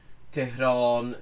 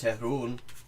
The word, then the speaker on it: Tehran: in Farsi, is that in informal speech, a lot of things that in proper formal speech have a long o sound become an u sound. So John becomes June, Asan becomes Asun, Tehran becomes Tehrun.